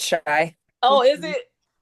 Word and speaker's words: Shy: I think it's Shay, right? It's pronounced Shay. Is it Shy? It's Shy.